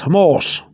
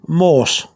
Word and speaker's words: mohos: You still don't have, I didn't write the H because the H is not pronounced. You really write the plural like this. But the H is not pronounced. Okay, but that's how you write it. But you don't pronounce the H.